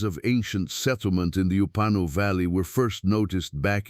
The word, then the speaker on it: Upano: The place is called the Upanu Valley, pronounced Upano, in the Morona Santiago region of eastern Ecuador, where the Andes mountains begin to melt into the Amazon basin.